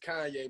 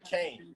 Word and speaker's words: Kanye: It was like, now all I need is y'all to pronounce my name is Kanye, but some of my plaques they still say Kane.